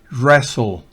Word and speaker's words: wrestle: Wrestle, esa T no se pronuncia. Wrestle, no es wrestle. Wrestle, no es wrestle, sino wrestle.